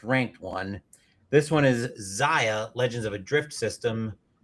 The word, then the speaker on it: Xia: This one is Zia Legends of a Drift System by It's actually Xia, but I always pronounce the X as a Z.